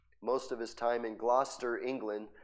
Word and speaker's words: Gloucester: time in Gloucester England see you thought it was Glouchester but it's not it's Gloucester I know because where I live or where I'm from we got a gler and it's spelled just like that so it's Gloucester right yep Gloucester England